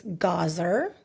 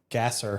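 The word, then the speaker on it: Gaser: So I which was is it's Gazer, but it's spelled G- A S E R. Gasser. So I'd always get that.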